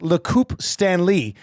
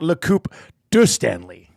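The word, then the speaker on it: Coupe Stanley: Dusty for your information in French it's Loup stanlee not Loup D Stanley uh my bad I said Loup to Stanley which I think would mean cup of Stanley oppos to the cup Stanley but it came from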